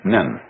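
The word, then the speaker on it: 忍: very interesting sign this it's pronounced in japanese nin and the top part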